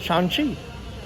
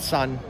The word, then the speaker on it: Shang-Chi: Shang-Chi. That's how you say it. What you said before that? I said sun.